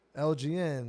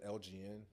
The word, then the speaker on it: LGN: it confused with like LGN. Like, is it abbreviated for something? Nah, it's not. It's my name without the vowels, so it's pronounced the same way. Right. But people say LGN or Elgin, so I take them both.